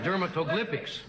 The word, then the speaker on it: dermatoglyphics: here dermatographics what what is that dermatologics dermatographics dermatoglyphics dermatoglyphics dermatoglyphics he said well that's not fair this dummy can't pronounce them how does that pronounced Daniel